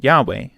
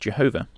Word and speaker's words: Yahweh: but by my name yahweh commonly but erroneously pronounced jehovah was i not known